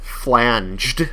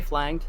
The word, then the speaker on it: flanged: to 33 physical damage flanged with a soft G oh it is yeah did I say flagged yeah flanged I know